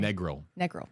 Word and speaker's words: Negril: Negril. Thank you. Negril. I didn't know either. Yeah. So learning on the fly here, but hopefully to everybody in Negril, fingers crossed that you're able to stay safe